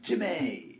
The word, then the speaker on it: Jimee: So Jimee, Jimmy.